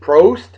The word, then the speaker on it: Prost: Prost. And Kampai, as they say in Japan. Thank you, Justin, for the proper pronunciation of Prost.